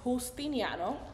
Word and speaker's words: Justiniano: So my true pronunciation is Justiniano. Oh! The J in Spanish, you know, like it's like a sound. Like an H sound.